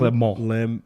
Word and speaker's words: Le Mans: Le Mans.